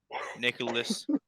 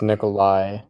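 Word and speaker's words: Nikolaj: in the mid 2000s nicholas healer healers it's nikolai yeah eelers i'm not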